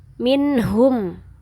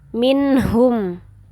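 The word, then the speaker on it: مِنْهُمْ: Kalau nun sukun ketemu huruf ha sama dibaca jelas juga. Minhum. Minhum.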